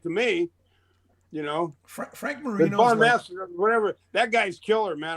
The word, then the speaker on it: Bonamassa: Well, he plays a certain style of pentatonics, like Joe Balsanama, whatever the guy's name is. Bonamassa. Yeah. Bonamassa. I can't pronounce his name.